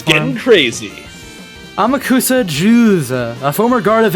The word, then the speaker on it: Amakusa: His name is Amakusa Juza. Amakusa. Amakusa. Yeah, I mean, you're trying to pronounce it like Yakuza. It's not how you pronounce it.